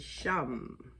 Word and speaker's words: Sham: the third eye chakra is sham like the first syllable of the word shaman others chant um like